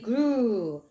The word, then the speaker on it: grew: 그래서 EW는 you 긴 발음이 난다라고 좀 표시를 해주시면 좋습니다. You grew.